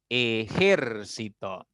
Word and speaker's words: ejército: Ejército. Tiene 4 sílabas, pero su mayor fuerza o el acento está recayendo en la tercera sílaba. Por lo tanto, es una palabra esdrújula.